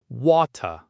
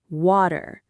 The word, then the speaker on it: water: We say water. Notice that the T sound in the middle becomes a soft D sound, almost like a little flap of the tongue.